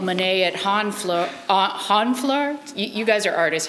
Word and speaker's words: Honfleur: So the last one I'm going to read, this is actually, I'm dedicating this to Yvonne, and this is called Monet at Honfleur.